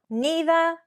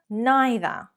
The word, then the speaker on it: neither: Either, either, neither, neither. Which is correct? Well, English is a global language. They are both correct. One is traditionally British, one is more American.